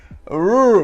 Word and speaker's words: rural: I just do it in like one long syllable.